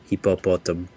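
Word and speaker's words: hipopótamo: Hippopotam.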